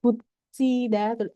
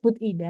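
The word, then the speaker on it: 붙이다: Kemudian bucida, ini kata dasarnya bucida. Tulisannya butida, tapi bacanya bucida ya.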